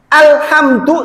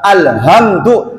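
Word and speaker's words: الحمد: yang baca alhamdulillahiabbil alamin salahnya di mana ibu-ibu Ha dan Ain jadi Hamzah alhamdu segala puji lillah milik Allah RAB alamin semesta alam jenengan salah baca alhamdu segala kehancuran lillah milik Allah RAB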